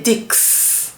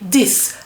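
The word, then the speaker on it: dix: But you don't pronounce the x. You don't say dick. You say this.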